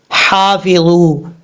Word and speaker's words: حافظوا: لہجے میں پڑھیں گے۔ حافظو، حا الف زبر حا، فا زیر فی، ضا و بزو، حافظو، ہا بریک پڑھا جائے گا، اور یہ جو جہاں سے ادا، جس حلق سے ادا ہوتا ہے اس